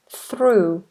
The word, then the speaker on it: through: through completely different word through voiceless if that's an R so if we have this word this is unvoiced and this is voiced though through though through though and through oh Jordan says your